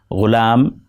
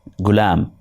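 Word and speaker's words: غلام: Ghulam is pronounced as gulam.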